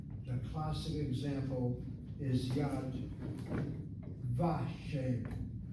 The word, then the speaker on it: Yad Vashem: The vav gets pointed as a kamatz if the word that you're attaching the vav to is accented on the first syllable. The classic example is yad vashem, not vishem.